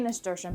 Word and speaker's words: nasturtium: How to say nasturtium? But how do you spell it?